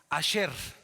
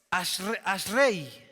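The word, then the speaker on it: אשרי: Asher. Asher. Hay unos que pronuncian Ashre.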